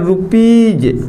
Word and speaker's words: rupees: हमने कहो दूसरा जो पहला अब आ जावे का डबल ई आ जावे एस के पहले जैसे हमने कहा रुपीज RUPEES रुपीज को मतलब का हो रुपया।